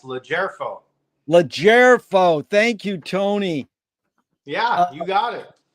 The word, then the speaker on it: LoGerfo: The G is soft. That's why it's capitalized. LoGerfo.